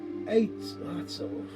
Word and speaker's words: āttorcoppe: little story on this last night and it's pronounced eight lots of that is a feminine version of it